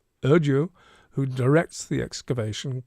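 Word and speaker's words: Erdoğu: You don't pronounce the G. Erdu who directs the excavation called the discovery unprecedented.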